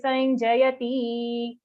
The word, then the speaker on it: Sanjayati: Okay, we have to be extra careful when there's a short sound at the end of a charan, because sometimes when we are singing the shloka, we don't realize when it becomes long.